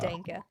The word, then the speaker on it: Denke: was coming up with how do I remember How to pronounce Denke. Denke. And Yes. I was telling Reinhard that my grandmother always had Sanka coffee.